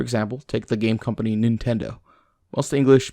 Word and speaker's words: Nintendo: short i sound however in japanese it's pronounced nin because in japanese the vowel i is always pronounced the same way e regardless of what